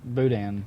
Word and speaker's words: boudin: Boudin, right?